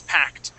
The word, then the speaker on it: packed: So yes, this is just like talked. Okay, and asked. Okay, it has a T ending. You had said packed.